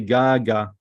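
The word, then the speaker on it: גג: another Gmail another gag so if we put another commits up it's we say gaga gaga so pronunciation is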